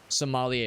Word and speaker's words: Sommelier: Sommelier is how you pronounce it.